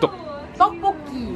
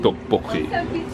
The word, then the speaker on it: tteokbokki: Tteokbokki. Tteokbokki.